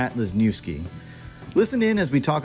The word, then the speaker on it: Lesniewski: with everybody we are here with lesniewski am I pronouncing your last name correctly sir yes awesome